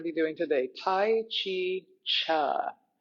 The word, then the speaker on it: Chih: streaming device my little chart back here, but there's the name of our practice that we're going to be doing today, Tai Chi Chih. That third word is pronounced cha, like chuck wagon.